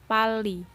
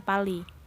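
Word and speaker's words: 빨리: Nah, di sini realnya ganda, makanya dibacanya Pali. Kalau realnya cuma satu, misalnya kita hapus nih ya. Real yang ini kita hapus. Ya, terus kita kasih yang di sini dibaca Pari, bukan Pali.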